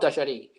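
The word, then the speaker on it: Gualtallary: So this is Wild Dajari. Yeah. How do I ask people? How do I say? Just think of I don't know, Walter, and Jari, in how you pronounce it.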